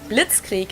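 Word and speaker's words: Blitzkrieg: We pronounce it blitzkrie in German and it literally translates to lightning war because blitz is lightning and creek is war.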